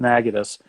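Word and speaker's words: Natchitoches: like negative spelled like nacho cheese because it's pronounced nagging us up in northern Louisiana which is again half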